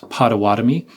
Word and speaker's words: Pottawattamie: It is pronounced Pottawatomie, and that includes Council Bluffs.